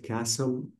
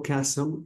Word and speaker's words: castle: Don't forget castle is we have T. This T is silent. Castle. أو ببساطة أقدر أقول palace. طبعا palace كمان تعني قصر. So castle the T is silent.